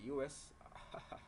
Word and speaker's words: ius: and Aquicum Reputamus, 1534, document the Portuguese IUS, or we call it US. This is spelled I-U-S.